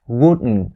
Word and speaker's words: wouldn't: for the pronunciation here you shouldn't say wouldn't wouldn't because it takes more time and effort to say it in north america native speakers will say it as wooten wouldn't wouldn't so wouldn't i